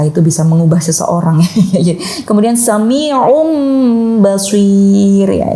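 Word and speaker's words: سَمِيعٌ بَصِيرٌ: Kemudian sami'um basir ya, yang tanwin awalnya yang seharusnya dibaca sami'un tapi ketemu dengan karakter huruf ba, maka dia harus menyesuaikan menjadi mim juga. Nah, menjadi mim karena mim dan ba adalah jodohnya iqlab gitu.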